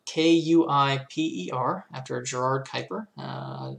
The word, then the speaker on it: Kuiper: not very dutch but that's sort of the general way that astronomers pronounce it the kuiper belt is